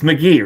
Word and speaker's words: McGee: It's McGee, right? Not Maggie.